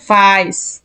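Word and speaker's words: weiß: এই যে এখানে দেখেন এই যে এর পরে যখন ই থাকে কোথায় গেল এই যে তখন আমাদের উচ্চারণ কি ছিল আই ছিল না আই তখন আমাদের উচ্চারণ ছিল আই তার মানে ভাইস ভাইস বুঝছেন এই জিনিসটা খেয়াল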